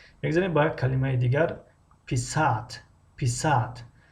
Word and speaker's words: писать: میگذاریم با یک کلمه دیگر پیسات. خب اینجا ادرین خیلی مهم است که هجای آخر رو بکشیم پیسات. اما اگر هجای اول رو یک کمی بلند تلفظ کردیم و که درازتر کشیدیم معنا تغییر می‌یابد.